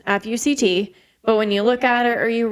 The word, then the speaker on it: FUCT: It was supposed to be apparently pronounced as four letters, FUCT.